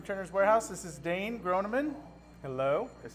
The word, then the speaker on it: Groneman: This is Dane Groneman.